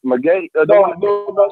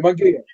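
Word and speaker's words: Munguía: No, Munguia. Munguia.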